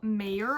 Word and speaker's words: Maehrer: Assistant to the Villain by Hannah Nicole Mayer, I believe is how you say her last name.